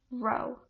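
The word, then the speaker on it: ρ: Its density is P, which is pronounced row.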